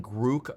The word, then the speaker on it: Grok: to see the announcing Gro post which I'm pretty sure that's pronounced with a long o in case you're wondering uh Elon did post on Twitter that it has the long vowel o but anyway they do